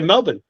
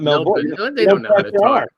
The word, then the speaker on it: Melbourne: when you're in Australia everyone says it wrong go how do they say it there we'll play Melvin not Melbourne I learned that English